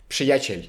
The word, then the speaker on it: Przyjaciel: Przyjaciel, przyjaciel. As much psh as you as you can pronounce.